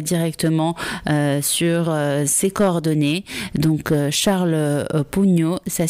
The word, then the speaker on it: Sharl Pougnaud: Donc Charles Pugno, ça s'écrit donc SHARL POUGNA UD.